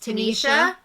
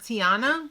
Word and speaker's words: Tanisha: She called out Jess, saying my name is Tanisha. Not Tiana.